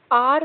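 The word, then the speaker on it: our: Uh chance to blot आउट आर mistakes. देखो, ये लिखा है, इसको हम आवर नहीं पढ़ेंगे। आज से सभी बच्चे इसको क्या पढ़ेंगे? आर। इसका सही प्रोनाउंसिएशन क्या होता है? आर होता है ना।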